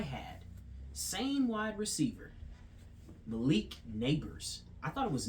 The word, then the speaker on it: Nabers: mispronouncing his name but I said nabers neighbors it's neighbors but it's not even spelled like neighborhood or neighbors like you live in beside neighbors it's spelled n a b r s neighbors very unique I like